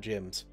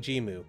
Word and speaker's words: GM: They're GMs, not gyms. That was the English dub thinking they're saying gym. They're saying Jimu, which is the sound neutral letters for G and Mu.